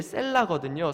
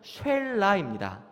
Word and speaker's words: 셀라: 그러니까 아들들을 낳으면서 첫째는 네가 파수꾼이 되고, 둘째는 네가 강해져야 하고, 이 셋째 이름이 이제 셀라거든요. 사실 정확한 발음은 쉘라입니다.